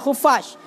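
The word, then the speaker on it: خفاش: Kiban dah baca khufas dengan dhammah kha. Khu dan patah fa yang bertasydid khufash.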